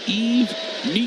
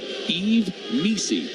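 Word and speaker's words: Yves Missi: that for game and in the middle is Eve Mei it's spelled y v s Eve and then Mei is spelled m i SS I Eve Mei a 7ot 235 lb freshman from yund De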